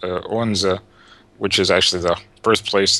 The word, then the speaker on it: Odense: then I actually live in, well, it's spelled Odense, but it's pronounced Odense, which is actually the birthplace of and home of Hans Christian Andersen.